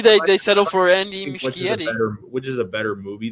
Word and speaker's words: Muschietti: It's not Machete. It's Muschietti, right?